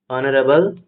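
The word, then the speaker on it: honourable: হলো আগে অনেস্ট ক্ষেত্রে অনারেবলের ক্ষেত্রে এই শব্দটি এখানে কি থাকছে? সাইলেন্ট থাকছে। সাইলেন্ট থাকছে তার জন্য এই শব্দটি যখন অনারেবল শব্দটি যখন প্রনাউন্সিয়েশন করা হচ্ছে ভাওয়েল সাউন্ড এর জন্য এর আগে কি বসবে? আর্টিকেল এন বসবে।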